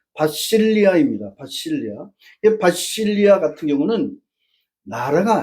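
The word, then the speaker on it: βασιλεία: 근데 그 엘라 바실레이아라고 에라성식 발음으로론 그렇게 하지만 실제 그리스 현지 발음은 바실리아입니다.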